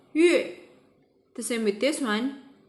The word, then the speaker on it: 月: Okay, remember when Y followed by U? The U is not pronounced as U but as Yu, so 月.